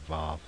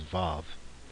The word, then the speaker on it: vav: from it's using that VAV or W and sometimes you'll you'll see it uh written that way like w a w and still pronounced as VAV um but for now